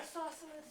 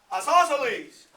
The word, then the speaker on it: isosceles: Isosceles. Nope, say it right. Isosceles. I'm being a smart aleck, aren't I? Isosceles. Yeah. But us Texans, for some reason, we say that's isosceles.